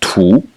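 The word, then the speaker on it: 土: bottom the blue one which is pronounced two and the third tone and it means soil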